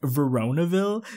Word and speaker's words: Veronaville: was that I'm pronouncing it wrong apparently it's pronounced veronaville so literally a couple of you guys lost